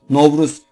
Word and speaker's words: Nevruz: Türkistan Türklerin de Bahar Bayramı olarak kabul edilmiş olup novruz olarak telaffuz edilmektedir özellikle uyku ve Kazan